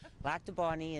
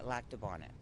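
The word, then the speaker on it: Lac du Bonnet: the same place right black to Bonnie is how I pronounce but you've heard Bonnet growing up absolutely yeah lack to Bonnet so is there ever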